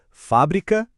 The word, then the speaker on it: fábrica: Fábrica e fabrica. Com acento é o substantivo, o lugar, a indústria, a fábrica. Sem o acento, a sílaba forte muda pro bri e vira o verbo.